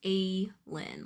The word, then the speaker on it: Aline: It's pronounced A-Lin, like hey or day.